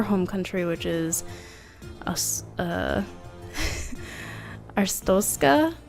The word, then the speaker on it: Arstotzka: country which is uh arstoska I believe is how you say it so that's just a